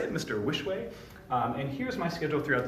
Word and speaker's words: Wischweh: Wischweh.